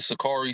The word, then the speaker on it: Sicarii: My organization is the Sakari, so it's spelled SICARII.